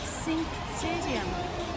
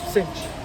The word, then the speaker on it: Cinch Stadium: Is it pronounced Sink Stadium? Cinch. Oh right, I thought you said As in- Sink, and I. Is it a cinch?